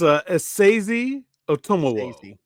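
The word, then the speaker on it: Esezi Otomewo: So at Essaze Otomuwe is what I'm going with. It's Asazi Otomowo. Asazi Otomowo. So the emphasis is on the second syllable in both words.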